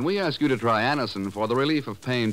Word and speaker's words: Anacin: When we ask you to try Anacin for the relief of pain due to a